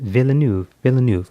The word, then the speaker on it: Villeneuve: How do you pronounce it? Villeneuve.